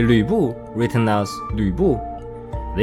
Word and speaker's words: Lü Bu: But some people does often say his name as Lu Bu. This again could be Pinyin working its charm. In Pinyin, we have this symbol Yu to represent the vowel sound Yu.